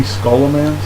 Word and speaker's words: Scholomance: achieved something yep uh now I'm calling it Soloman it could be scholomance depending on you know scholarly so scholomance or scholomance depends on how you like to pronounce it I pronounce it Soloman I kind of roll